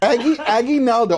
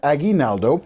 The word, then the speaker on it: Aguinaldo: Did I say I did it wrong? See? Aggie Naldo. I have to say it right. It's Odette Aguinaldo, and you are representing the Philippines Pavilion.